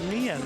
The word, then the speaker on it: Nian: The Chinese refer to this spirit as the Nian, which is pronounced similarly to the Chinese word year.